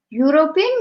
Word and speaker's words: European: be found okay so we will pronounce this now as european european european mean there is only one man from the euro so we won't pronounce as europe will pronounce as european so we will use